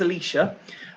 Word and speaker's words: Alicia: So the first question, it's Alicia, right? Because I always tend to pronounce this wrong. It's Alicia.